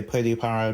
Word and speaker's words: Pripara: but I know that a lot of people say prear or in English it could be just prison Paradise but I'll say pretty para because that's the right way to say it in Japanese but as about it